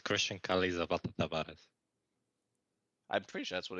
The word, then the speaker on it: Chrystian Kale Zapata Tabares: It's Chrystian Kale Zapata Tabares.